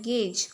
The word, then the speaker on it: gauge: ये प्रोनाउंस कैसे करना है, गेज।